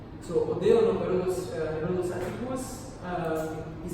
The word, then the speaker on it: Herodes Atticus: demanding on the names, don't forget the names vary, depending if you spell it in Greek or in Latin. This is the Latin spelling. In Greek you say Herodos. Herodos Atticus. Atticus, when you see US, it's always Latin.